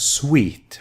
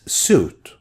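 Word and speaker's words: suite: house made of wood this is pronounced as sweet ok sweet without the e it's suit with E it's sweet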